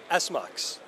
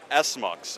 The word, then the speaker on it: SMUX: what do you say it's how do you pronounce that again s mux s mux okay yeah you'll notice right here it says